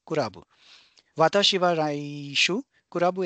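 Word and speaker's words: クラブ: And when we pronounce it, it's kurabu.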